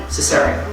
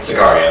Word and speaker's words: Sicario: Our nominees are Carol, Hateful Eight, Mad Max Fury Road, The Revenant, Cesario. Okay. Is that how you say it? Sicario. Sicario, Cesario. Sometimes, it's hard to pronounce these things.